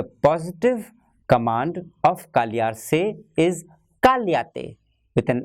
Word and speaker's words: cállate: So, the positive command of callarse is cállate with an accent on A. The first A carries an accent. Positive command of callarse is cállate with an accent on the first A.